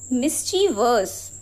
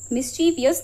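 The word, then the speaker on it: mischievous: Next word is मिसिवर्स। मिसवियस नहीं मिसवर्स।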